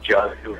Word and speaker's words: Yadav: I think this will be Yadav, which the Indians have, or they pronounce it Jadu, whatever his name is.